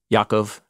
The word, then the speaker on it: Yaakov: went to Egypt with Yaakov. Jacob, yeah. Sorry, I'm trying to use Hebrew pronunciation in my translation.